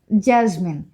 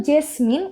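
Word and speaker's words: jasmine: জাজমিন লিখে ফেলি চলুন জাসমিন এটাকে অনেকে কিন্তু জেসমিন এভাবে করে উচ্চারণ করে জেসমিন কিন্তু আমরা জেসমিন বলবো না সঠিক ভাবে বলতে গেলে আমাদেরকে এভাবে বলতে হবে জাসমিন জাসমিন ওকে তাহলে জুই জাসমিন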